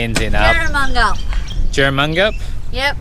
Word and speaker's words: Jerramungup: Jerramungup.